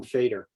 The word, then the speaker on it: Faidr: new app which we're going to be calling fader fader now there's a reason behind the name